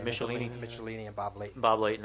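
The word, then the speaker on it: Michelinie: For Iron Man, David, how do you pronounce his last name? Michelini and Bob Layton.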